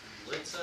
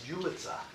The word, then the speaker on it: Ulitza: How do you say your, That's my client, it's Ulitza.